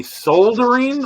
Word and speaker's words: solder: Do you guys say soldering or soldering? Soldering. The way it's spelled. Solder. Yeah. You pronounce because the L. it's spelled SOLD, sold, Yeah. ER, soldering. Right. Yeah. I say L is silent.